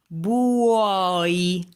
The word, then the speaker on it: buoi: The triptychs are words with 3 vowels together, and you must pronounce all of the vowels, ever, always. You never have to contract them, okay? Even in the triptychs. For example, buoi.